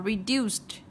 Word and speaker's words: reduced: Cái chữ C với chữ E này này, chúng ta sẽ đọc là S nhá. Reduce, reduce. Được chưa? Reduce. Vậy thì khi thêm ED vào chúng ta đọc là reduced, được chưa?